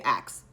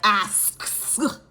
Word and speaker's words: asks: He's the first person that told me that I pronounce asks wrong. He said that all black people say it, they say it wrong. They say ax. I'll never forget that. Now I'll be like, asks. So I don't say axe.